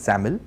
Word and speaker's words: XAML: use a markup language pronounced as sam'l and written as XAML and the benefit of